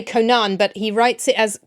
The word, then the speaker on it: Conan: So if you don't put a fada on the name Conan, as in Conan O'Brien, you pronounce it Conan.